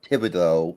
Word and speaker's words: Thibodeaux: uh hutch thibs or apparently by the way it's pronounced pivot though not the video so we're